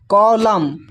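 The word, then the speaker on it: column: देखिए यहां पर कॉलम कॉलम में जो है एन साइलेंट है यहां पर।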